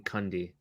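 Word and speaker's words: Cundey: he did i think i think it's pronounced dean cundy candy yeah yeah he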